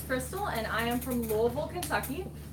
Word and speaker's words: Louisville: and I am from Louisville Kentucky yes I said Louisville not Louisville not Louisville it's pronounced alright today I'm